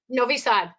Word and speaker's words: Novi Sad: Do you know anything else about, do we pronounce that Novi Sad? Novi Sad.